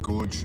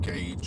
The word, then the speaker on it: gauge: It is, yeah, gorge, you pronounce it gauge, I believe. That's what it is. Okay. But it is spelt gorge. I mean, I'm pretty sure it says it. I'd read it as gorge.